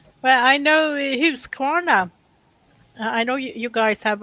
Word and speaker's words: Husqvarna: yeah, Husqvarna. If you say it like that, you pronounce it in Swedish the way it's supposed. If you asked for that in Australia, you wouldn't get it.